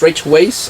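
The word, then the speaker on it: Weisz: up because it stars rachel ways and rachel weiss however you prefer to pronounce that also natalie portman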